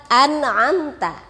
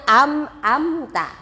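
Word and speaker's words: أَنْعَمْتَ: Nah, kemudian yang sering diperhatikan juga nih lapad an'amta. Anak-anak sering membacanya amta. Perhatikan hurufnya. Huruf nun dan mim sukun. Membacanya an'amta. An'amta.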